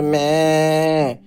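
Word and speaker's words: 目: ম্যা ম্যা মানে চোখ উচ্চারণটা হবে ম্যা ম্যা মানে চোখ বাংলা ভাষায় মাথা জাপানি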